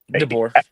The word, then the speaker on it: DeBoer: How do you pronounce his name? DeBoer.